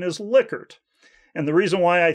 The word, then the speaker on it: Likert: liquor and he told me it should be pronounced liquor and not like her at any rate some